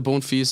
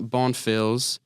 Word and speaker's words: Bonfils: look at it and it is a French last name um the history of the bone fe's last name the French